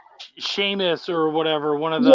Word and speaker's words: Seamus: church said it too she said sheamus yes um except for i remember in the books they spell it that weird irish way s-e-a-m yes same seamus finnegan yeah all